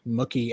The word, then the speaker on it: Mookie: I should uh bring up earlier we were talking about the pronunciation of Mookie Alexander's name. Pat, you were correct. He says, "My name rhymes with cookie. The Mucky thing started by an